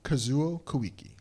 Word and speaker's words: Kazuo Koike: How do you pronounce it again? Kazuo Koike.